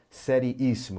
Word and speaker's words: seriíssimo: Sílaba tônica está na antepenúltima. Isso aqui é uma proparoxítona. E como todas as proparoxítonas são acentuadas, o acento aqui deve ser colocado, né? Proparoxítona, isso, proparoxítona. Então, muito cuidado com a palavrinha seriíssimo, tá?